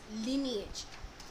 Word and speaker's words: lineage: The correct pronunciation is lineage.